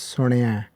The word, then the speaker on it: Suniai: the way we pronounce it but the the pronunciation again a reminder is it's Sonia so here we've gone through in detail the